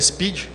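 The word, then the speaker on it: SPDY: protocolo Speed da Google se pronuncia Speed que vem de veloz ele foi criado pela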